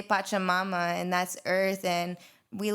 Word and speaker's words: Pachamama: We got Alicia from Pachamamas?